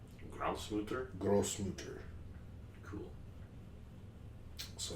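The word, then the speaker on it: Großmutter: It's like their weird looking B letter. But it's a kind of an S. It's like Grossmutter. Grossmutter? Grossmutter.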